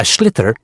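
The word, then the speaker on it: sliotar: you have to get this ball called a schlitter that's s i o t a r so it's not spelled the way it's pronounced you hit it into the net for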